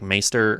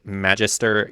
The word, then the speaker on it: Magister: It's like Maester or not Maester, like Magister Illyrio in wherever.